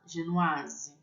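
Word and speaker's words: génoise: Lembra do aí, tem som de A? Genoise.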